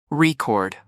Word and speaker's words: record: When it's a noun, the stress is on the first syllable, record. But when it's a verb, the stress shifts to the second syllable.